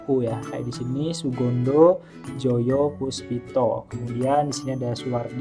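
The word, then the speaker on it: Soegondo Djojopoespito: Kalau sekarang kan sudah hedya jadi Odan itu dibacanya Uya edisi ini Sugondo joyopuspito kemudian di sini ada Suwardi Suryaningrat Oke jawaban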